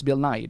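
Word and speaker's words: Bill Nighy: And he literally said his name is Bill Nai. That's how he pronounced it.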